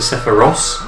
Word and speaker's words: Sephiroth: Like, I've heard that Sephiroth isn't Sephiroth, he's technically Sephiros, but no one's renaming him Sephiros, that's getting silly now.